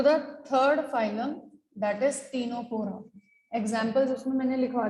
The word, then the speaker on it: Ctenophora: Now again, C is silent in these members. जैसे वहां Cnidaria में C silent था. This is third. It is Ctenophora. C silent. Ctenophora.